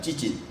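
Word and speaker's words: ציצית: 여러분, 이 술이란 말은 히브리어로 찌짓입니다. 찌짓. 발음이 좀 이상하죠? 찌짓.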